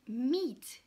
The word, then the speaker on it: meat: Donc, vous avez aussi le groupe de lettres EA, d'accord, qui peuvent se prononcer différemment. Aussi donne meat, d'accord, meat, qui veut dire viande.